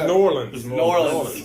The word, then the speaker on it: New Orleans: it is LS well if you go there pronouncing New Orleans they there norleans one word yeah like we're randomly